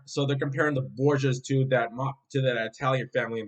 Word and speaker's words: Borgia: The name Borgia is actually an Italian pronunciation. So the pronunciation of the family name in Italian is Borgia, Borgia, but in Spanish it's Borja.